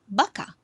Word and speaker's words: vaca: Remember, the V is not the same sound as you would pronounce in English, meaning a word like vaca, your sound comes from your lips. You should not say vaca. It should be vaca.